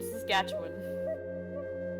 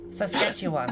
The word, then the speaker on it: Saskatchewan: Saskatchewan. A little bit. You're not getting it wrong. It's just that you can tell you're not from here. Like, you know, just a little bit different pronunciation.